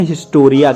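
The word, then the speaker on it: ἱστορία: Actual में history का Greek भाषा में प्रोनाउंसिएशन है हिस्टोरिया के रूप में।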